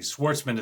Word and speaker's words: Schwarzman: by stefan a schwarzman i think schwartzman is the way they pronounce that that aside this is